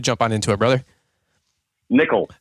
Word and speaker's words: Nikkel: on into it brother Nichol the way it should have been pronounce you bet there you